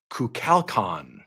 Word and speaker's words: Kukulkan: Kukulkan. He's a Mesoamerican god. We have a Mesoamerican god that follows the show, Jeb. Okay. I don't know how K-U-L, you get Cal out of that, but I'm going to go with it.